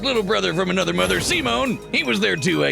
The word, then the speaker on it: Simon: I did it concerning Supreme Commander and pronounced Simone. So they were basically trying to say Seaman, but like sure Simone.